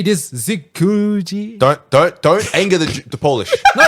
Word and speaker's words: Dziękuję: Zikuji? Don't anger the Polish. No, it's thank you. What I'll do is I'll download Babbel and I'll Dziękuję. Dziękuję. It doesn't sound like the how to spell it.